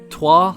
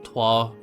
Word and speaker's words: Troyes: I always like to say Troy, but it's not, it's Troyes.